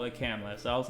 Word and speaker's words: Kamala: So I went back 10 years to a video where they called her Kamala.